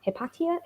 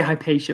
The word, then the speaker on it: Hypatia: lisa your chapter was on um hepatia that's how it's pronounced um yeah can you tell us about hepatia and what inspired you to write about ancient philosopher yep um so um i used to say hypatia but i think there's